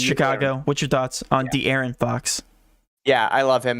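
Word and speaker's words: De'Aaron: amazing $8,000 35 minutes TJ dearon Fox did I say it right dearon yeah no you no you messed it up right there dearon Fox you had it it's you've been saying dearion for a while so I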